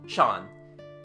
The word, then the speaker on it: Jean: he goes to avenia the local pronunciation turns jean into shan he is called shan mathu our man offers no